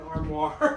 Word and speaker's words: armoire: An armoire. Armoire. Debbie says it's armoire. How do you pronounce it? It's armoire. Armoire.